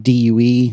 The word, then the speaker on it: Due: Uh, very quickly, I wholeheartedly endorse the app due, you know, do, but when I pronounce the word do, nobody knows what I mean.